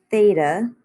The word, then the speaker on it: theta: This little symbol here is pronounced theta. It is Greek.